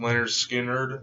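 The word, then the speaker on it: Lynyrd Skynyrd: The All-Time Greatest Hits by Leonard Skinner. I'm gonna try to get a few of their albums, it's pronounced Leonard Skinner, and then also Second Helping. I might get to. The Best of Leonard Skinner, 20th Century Masters.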